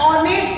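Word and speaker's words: honest: अब आप बोलोगे टीचर इसका उच्चारण ऑनेस्ट आया है, तो आपको यहाँ पे एन लगाना चाहिए, एंड ऑनेस्ट वुड कटर।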